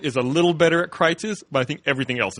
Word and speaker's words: Kreuz: But this place that we go to eat at Kreitz's, and Kreitz's is spelled Kreuz '. Yes. It looks like cruises, but it's pronounced Kreitz's.